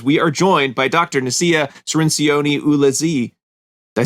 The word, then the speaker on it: Nasiah Cirinci: out there because we are joined by doctor nacia serencione ulazee did i say it right did i